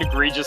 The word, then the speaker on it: egregious: would have said it was spelled with an A. Yep, yep. Because you're thinking agree, but it's egry. I agree, yeah. Yeah. And it's only one E after the R.